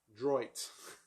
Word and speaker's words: Droit: book I have read Roger Paul D that's how you say it droit Dro you know I'm